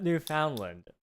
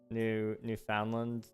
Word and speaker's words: Newfoundland: Except Newfoundland.